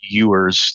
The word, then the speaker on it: Ewers: last name is pronounced yours. It's like a it's ew. So, I tell people it's like a female sheep, like a u with an RS on the end.